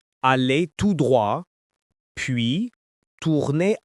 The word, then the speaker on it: tout droit: you will hear is tout droit. This means straight ahead. Tout droit. Two words, one meaning. The T in tout is silent here. Say it with me. Tout droit. It sounds like tout droit.